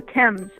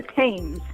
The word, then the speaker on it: Thames: The Thames, or the Thames.